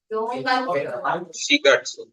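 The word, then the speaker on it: 四月: It's the first kanji and Shigatsu. hi. Shigatsu. It's a special case where you have to use the shi pronunciation. Yon plus gatsu or getsu, but here it's month.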